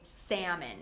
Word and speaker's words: salmon: Number four, we don't say the L. We say salmon.